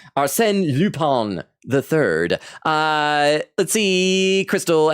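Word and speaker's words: Lupin: See, uh, Ky says, "Pronounced Lupon." I think it is cuz it's a French name. Aren Lupon III.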